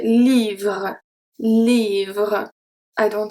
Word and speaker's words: livre: And finally, un livre. Un livre. So sometimes, because of the natural pronunciation, it can seem that we pronounce the E at the end, but we actually don't.